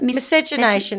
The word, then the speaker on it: miscegenation: So miscegenate, how do you pronounce it? Miscegenation.